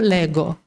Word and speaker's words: leggo: Pues en italiano se cambia la manera de pronunciarlo y se sigue escribiendo igual. Entonces yo cuando me di cuenta de este patrón, ya me resulta fácil hacerlo. Te pongo el ejemplo, ¿no? El verbo leer, leggere. Pero cuando dices yo leo, yo leggo. Se escribe G-O, leggere, y se escribe G-O, leggo. No sé si se entiende el paralelismo que quiero hacer.